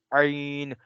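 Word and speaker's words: عين: Yes, of course, is Ain. And we will say it from the middle of our throat as Ha.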